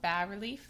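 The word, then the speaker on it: bas-relief: It is high relief versus our low relief, often called bad relief. The S is silent where this is much lower.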